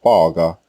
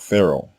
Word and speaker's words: Pharaoh: name nor the egyptian word faga which is the correct way to say this word in egyptian not pharaoh now modern scholars have